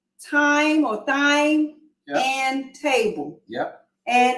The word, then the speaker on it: Thyme: Thyme, yes.